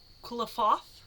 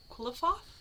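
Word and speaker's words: Qlipoth: Quilifoth? Quilifoth? Yeah, because that's a foth at the end. So Quilifoth? Okay. Something like that.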